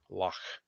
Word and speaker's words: loch: called grand tour lockdown spelled with uh loch lock yeah i like it